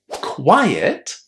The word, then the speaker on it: quiet: Quiet ends in T. Quite ends in E. And that change in the position of that E basically influences how we pronounce the word. So, quite, quiet.